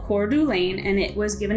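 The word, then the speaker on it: Coeur d'Alene: number two place that i'm talking about is cordu lane now that's up in northern idaho and it's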